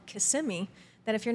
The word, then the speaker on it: Kissimmee: There's another town called Kissimmee that if you're not from Florida, you want to say Kissimmee. So it's just pronounced in different ways.